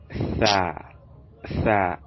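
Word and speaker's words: ثاء: And the next, which is this, is pronounced to be tha, as in three, as in three, tha, three. So it's pronounced instead that we'll place the tip of our tongue in between our upper and lower incisors.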